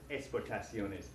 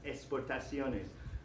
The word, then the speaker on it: exportaciones: The letter X, for me personally, I just pronounce it like an S. Las exportaciones. There are people in the Spanish-speaking world who try and pronounce it like an English X or a Greek X. Exportaciones. Exportaciones. But las exportaciones sounds correct to me.